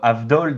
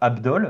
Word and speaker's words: Avdol: En fait, mais ils prononcent jamais le V, en fait. Sauf, par exemple, pour Avdol dans Jojo, par exemple, dans le jeu Bizarre Adventure, on ne dit pas Abdol.